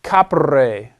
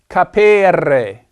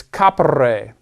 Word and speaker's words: capere: The infinitive is a third conjugation infinitive, capere. This E is a short E, just like in ducere. It's not capere.